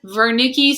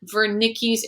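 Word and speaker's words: Wernicke's: this word i've heard vernickies it's just like how vance how his last name start with a w but it sound like a v i've heard it pronounced the same way here vernicki's area if you hear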